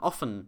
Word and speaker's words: offen: On the other hand, this double F here makes the vowel before it a short O sound. Often.